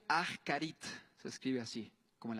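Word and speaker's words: אחרית: Esta palabra es la palabra ascarit. Ascarit se pronuncia. Ajarit.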